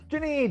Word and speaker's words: Janine: And it's pronounced Janine? Yes. Janine, yay, awesome, beautiful stuff.